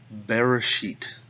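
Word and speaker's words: בראשית: it this way so to begin with Bereshit that's the first word here we've got the bait with the dog X in it so we've got that buzz sound we're going to go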